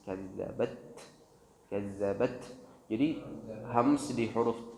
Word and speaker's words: كذبت: Jadi cara pengucapan yang benar, tahan dulu suaranya baru kemudian alirkan nafas. Kazzabat, kazzabat.